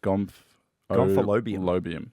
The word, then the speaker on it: Gomphalobium: So pronounced like Gomphalobium.